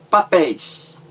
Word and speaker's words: papéis: Grite aí que você vai saber qual é a sílaba mais forte. Papéis. A sílaba mais forte é a última. Pés. Então você tem aí uma palavra oxítona também. Por quê? Porque a sílaba mais forte é a última sílaba da palavra.